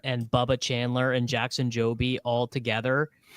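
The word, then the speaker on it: Jobe: so which which one it's just Jackson job it's not Joby it it really should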